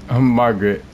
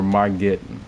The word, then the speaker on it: Margit: Margaret. Or Margit. I always get the pronunciations wrong.